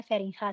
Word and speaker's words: Feringa: Kalau di Belanda tuh G bacanya G gitu ya. Di beliau namanya Feringa seperti ini.